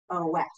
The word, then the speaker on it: of: However, the word of, O-F. I don't. I'm sorry. That is hard because we don't, it's not spelled U-V. It is spelled O-F, of.